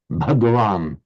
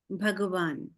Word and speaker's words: bhagavan: So mand I can just say bhasha bhagawan bhasha bh bhagavan. Okay, thank you very much man. In all of those you hear there was a b followed by a slight aspiration but no vowel in in between.